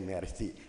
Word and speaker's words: Marci: Maracang City, ditulisnya Marci gitu, dibacanya Mercy.